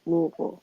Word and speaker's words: Louisville: It's like, is it Louisville or Louisville? And you gotta say it in the back of your throat, Louisville.